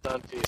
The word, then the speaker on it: Dunphy: Their last name is Dunphy, so I'm like, yeah, just watch Modern Family.